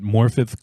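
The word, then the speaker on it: Morfydd: it stars Matt Smith morphi morphi I I I looked up how to pronounce her name because I was a little confused it's a Welsh name but morfi Clark and it is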